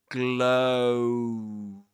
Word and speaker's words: glow: The one in glow is an O dip thong. That is to say, a sound, a vowel sound made up of two vowel sounds of two. Yeah. So, and there's a glide in between them, you know, because you go from the O to the oo.